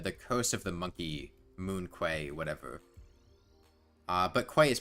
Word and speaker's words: Moon Quay: specifically in the the coast of the monkey Moon Quay whatever uh but quite is pronounced key so it's Moon Key monkey um so why am I doing five